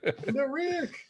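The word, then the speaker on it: endorheic: Endoreic.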